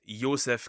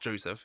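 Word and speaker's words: Josef: Pretty much pretty much um pronounced is Ysef Gilbert by the way in German, right? It's not Joseph here.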